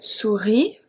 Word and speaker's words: souris: If we look at une souris, for example, the S at the end is not pronounced.